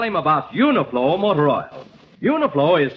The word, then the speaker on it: Uniflo: remember to tell him about uniform or Royal uniflo is spelled u-n-i-f-l-o uniform motor oil is sold at